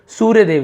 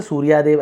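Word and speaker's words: Suryadev: सूर्यदेव से सूर्यादेव ऐसे पर सूर्यदेव वाई के साथ ए रहता है। आप देखेंगे किसी के नाम में भी है ना? तो वह य पढ़ते हैं सूर्यदेव।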